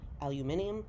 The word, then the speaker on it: aluminium: three thousand different shaped aluminum or as the british say aluminium sheets that are folded into